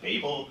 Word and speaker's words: Babel: So the book is called Governing Babel, and if you are British, you pronounce it Babel.